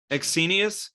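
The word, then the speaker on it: Ecsenius: bad I absolutely love exenius blennies that was a good pronunciation exsenius okay then my brain is saying it correctly that's good I hate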